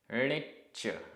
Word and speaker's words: णिच्च: णिच्च आधा च पूरा च।